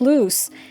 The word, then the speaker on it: loose: the difference in pronunciation with double o is pronounced as loose and with one o